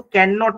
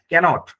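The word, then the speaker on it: cannot: তারপর দেখো আই কাননট understand এটা কিন্তু কাননট না। কনট মানে একটা এন সাইলেন্ট থাকবে।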